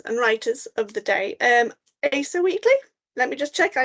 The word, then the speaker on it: Asa Wheatley: comic book artists and writers of the day, Asa Wheatley. Let me just check I am pronouncing that name correctly.